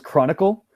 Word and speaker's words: chronicle: And so the last one was chronicle. And this one is totally different. It's like the same kind of ending as comfortable or vegetable. So it's like A-B-L-E or I-C-L-E, or like icicle, popsicle.